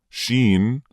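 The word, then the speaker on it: ش: Sheen, Jim, and yeah. This is how we write it. Sheen, how to pronounce the letters with short vowels.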